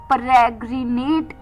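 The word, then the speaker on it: peregrinate: पहला वर्ड इस शाम का था परग्रनेट।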